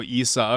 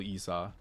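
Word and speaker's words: Esau: You saw it's pronounced E-E-Saw? You are saying it right? Oh, E-Saw. Okay, okay. So not even double E-Saw. Not even the double E's.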